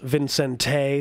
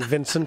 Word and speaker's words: Vicente: Apparently it's Vicente Fox instead of, I've been saying Vincent Fox.